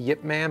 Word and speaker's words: Ip Man: and yeah by the way it's clink it's pronounced the Yip Man but it's spelled it man yeah it's about